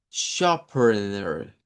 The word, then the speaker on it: sharpener: Pero ahora vamos a agregar la palabra sharpener. Y esa lleva doble schwa.